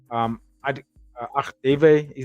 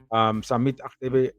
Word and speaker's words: Agdeve: I'm going to do a deeper dive into Samet Agdeve. I think that's how you say his name, Agdeve. Samet Agdeve.